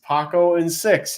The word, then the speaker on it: Paco Issei: It is Paco Issei. It's Paco and 6. He specifically told me that.